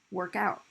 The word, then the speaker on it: workout: So if you use it as a noun, stress is on the first syllable. You use it as a verb, you stress the second.